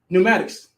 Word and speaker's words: pneumatics: Or pneumatics. Right. It's a P in pneumatics. Why is it there?